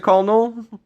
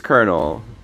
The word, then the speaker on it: colonel: bad language do people do people pronounce it colal I think it's Colonel learn your BL feel